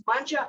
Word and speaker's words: Mangia: we were talking but the italian way is banja al museo not the french way oh yes you do